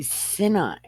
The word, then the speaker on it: Sinai: on this word so it would be Sinai right because s-i-n is sin a i is I than I and had